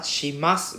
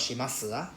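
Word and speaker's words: します: Sora, please remember, shimas, we don't need to pronounce the U at the last one. Not shimasu, just shimas.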